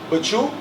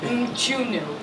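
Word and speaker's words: Mchunu: How do you pronounce the guy Eddie Chambers is fighting? I didn't say it earlier. Machunu.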